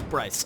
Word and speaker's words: Bryce: And some people mispronounce it as Briss, but it's Bryce.